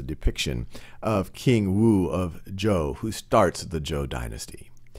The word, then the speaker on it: Zhou: the Battle of mui against King wo of zuu or Joe is actually the correct pronounce King wo of Joe and King wo